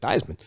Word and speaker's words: Theismann: And then they asked his dad years later, how do you pronounce it, Theismann? He said, Theismann.